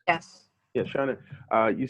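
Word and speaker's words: shōnen: Shonen, is that how it's pronounced? Yes. Yeah, Shonen.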